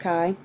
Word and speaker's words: chi: One, the notation we use looks like an x squared distribution, but this is the Greek letter chi squared. Again, it's pronounced chi.